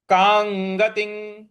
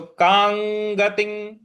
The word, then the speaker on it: कां गतिं: तो योग संसिद्धि कांगतिं कांगतिं। कांग के ऊपर जो अनुस्वार है उसके आगे फिर ग है तो क ख ग घ अंग का ही उच्चारण ले आना है। तो कांगतिं गतिं।